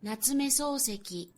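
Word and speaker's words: 夏目漱石: So it's not Sosuke, it's Souseki.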